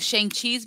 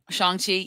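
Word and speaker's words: Shang-Chi: so i i believe shang chi's been nominated you mean um shanxi yeah um i had to relearn how to pronounce it too so it's okay yeah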